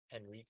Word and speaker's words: Henrique: So, cuz their H's are kind of silent, and then their R's are the way we pronounce H's. Interesting. Henrique is actually En- hee- Interesting.